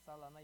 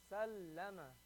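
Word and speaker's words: سلّم: Not salama. You have to hear that lam. The lam in the middle has to be mushaddad. Has to sound like it has a shadda.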